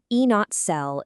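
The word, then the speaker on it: E°cell: You'd read this one out loud as E not cell is equal to E not cathode minus E not an anode.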